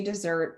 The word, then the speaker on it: Desert: on mount desert island it's spelled desert we've confirmed they say dessert i don't it was